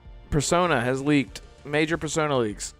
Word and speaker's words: Persona: Persona?